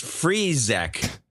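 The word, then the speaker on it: Frick: my last name Fric it's pronounced freac there you go okay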